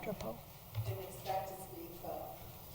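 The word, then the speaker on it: Grapau: come up and spell it and pronounce it for us. G-R-A-P-A-U. You were right, Drapo.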